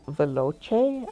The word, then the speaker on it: Veloce: So I went into the Japanese, and it's written in katakana, and it's Beroche. Sorry, my Japanese pronunciation is terrible. Beroche. And so I think the English pronunciation should be Veloce, I think, but I'm not entirely sure on that.